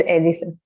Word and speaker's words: Elisa: Yes, it's pronounced as Elisa.